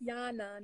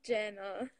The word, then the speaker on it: Yana: It's Yana, not Jana. Okay, Yana.